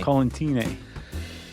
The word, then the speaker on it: Collentine: No, I think she corrected us and said it was like Valentine. Oh, right. So I think I'm saying it right. Man, Mona's going to be so mad at me. Collentine.